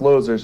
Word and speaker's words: Loser: well actually it's pretty it's actually pronounced losers a German last name but I you know